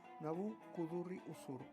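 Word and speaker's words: Nabû-kudurri-uṣur: Nabucodonosor II, o como se pronuncia en acadio, Nabu-kudurri-usur, es probablemente el gobernante más conocido de la dinastía caldea de Babilonia.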